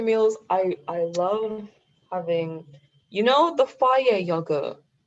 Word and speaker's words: Fage: Now my go-to meals, I love having, the fire yogurt. How do you Okay, spell it? it's like Fage. Oh, is it It's German? yeah. They even put on the package, it's pronounced fire.